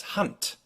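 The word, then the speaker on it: Hund: consonant tpf and C so a German will pronounce this word for instance as hunt with a t sound at the end this applies also to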